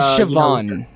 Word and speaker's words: Siobhan: lot actually yeah I like how she is Siobhan it is there you go yeah there you